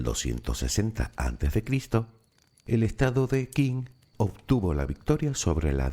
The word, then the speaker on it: Qin: Sí, ya sé que eso tampoco te dice nada, pero ¿y si te digo que el vocablo Qin en realidad se pronuncia de forma parecida a Xin?